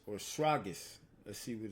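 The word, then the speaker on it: σφραγίς: Having the seal, the Greek word, Shrapis or Shragis. Let's see what it's Shragis. Let's let Esau pronounce it. Strong's G 4973. Sfragis. Sfragis.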